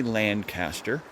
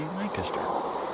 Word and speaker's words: Lancaster: which, of course, yes, we pronounce it just like the English. We don't say Lancaster like an American would. No, we say Lancaster because it was named